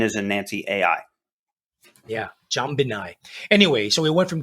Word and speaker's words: Jambinai: Yeah, Jambinai.